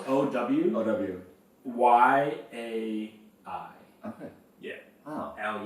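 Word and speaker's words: áo dài: Oh yeah, it's spelled AODAY, but it's pronounced. By the way, my family's gonna love this, by the way. That you guys are teaching me how to say things. Yeah, it's pronounced OWYAI.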